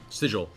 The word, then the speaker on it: sigil: beginning to pulse with arcane energy, a familiar "siggle," one that you think actually-- LAURA: (whispers) Sigil.